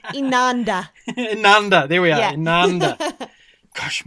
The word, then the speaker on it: Inanda: Inanda, there we are, Inanda. Gosh, my pronunciation.